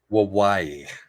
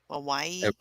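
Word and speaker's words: Wawawai: so it's waii wawi wawaii wawaii it rhymes with Hawaii haai that's what the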